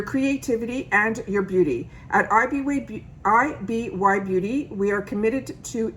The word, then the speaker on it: IBY: they stand for, and they pronounce it IBY.